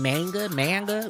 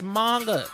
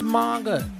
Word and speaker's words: manga: Y'all be saying manga. You know what I mean? It's manga. It's manga.